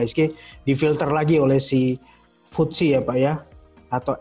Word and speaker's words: FTSE: difilter lagi oleh si Khushi apa ya atau FPse tadi kalau gitu tulisannya ftse dibacanya versi itu ya itu sudah difilter